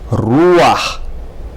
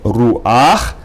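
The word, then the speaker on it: רוּחַ: And the next word is ruach. Instead of saying ruach, you say ruach, accent on the first syllable.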